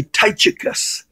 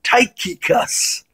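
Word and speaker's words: Tychicus: AR k that's like i used to say ty chikis because there was a CH in his name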